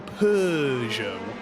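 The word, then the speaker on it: Peugeot: sure you'll pronounce differently pers yeah there's no there's no R I think the reason that happens I think is because in French they go pjo they really go hard with the uh but for some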